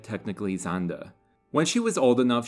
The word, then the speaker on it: Sander: use the Americanized pronunciation of her last name sander the German pronunciation is as I said Technically zanda when she was old enough she enrolled in